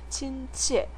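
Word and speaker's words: 亲切: 분들은 따라 읽어 보세요 1성 4성 있니다 친치 친치라고 읽어서 친절하다는 뜻이고요 번은 이성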